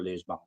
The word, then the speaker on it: Lisbon: guess Monday, or maybe they save it for Lisbon. I've been calling it. I've been pronouncing it in every way that I can. And how do you pronounce it? Lisbon.